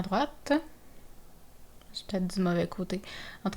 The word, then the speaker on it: droite: donc on se rappelle il y a une différence de prononciation en tourner à droite on prononce le T droite et continuer tout droit donc continu tout droit pas de T tourner à droite